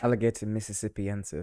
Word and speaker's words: Alligator mississippiensis: Whereas if you use the 2%, which is seen in alligator Mississippiensis, is that how you say it? Alligator Mississippiensis.